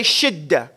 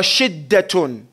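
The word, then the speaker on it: شدة: Everybody say shidda. Shidda. Okay. Now shidda is sheen, dal, tarmabuta. It's pronounced shidda or shiddatun.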